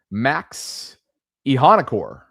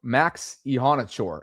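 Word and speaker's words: Iheanachor: Let me make sure I get this pronunciation right cuz we did it last night on the collective. Max Ehanachor. Ehanachor. Ehanachor. Max Ehanachor.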